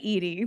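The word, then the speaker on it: Eadie: And it was a book by Betty Eady. There you go. It rhymes.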